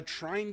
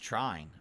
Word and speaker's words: Trine: is actually balanced the Trine games have long been held as fantastic oh is that how you pronounce it Trine I always thought it was Trin I guess it's pronounced Trine okay co-op games and